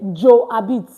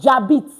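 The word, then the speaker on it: j'habite: So I hear people say joit. No, it's jabit.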